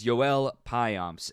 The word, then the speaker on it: Joel Payamps: let's start with the big Leaguer Joel pyomps yes I know it's spelled Joel according to the official pronunciation guide It's Joel pyomps and Dominican right-hander is 28 years old he